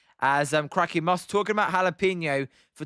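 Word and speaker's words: jalapeño: Zims, I say it like this: jalapeno. That's weird. Jalapeno. It's jalapeno.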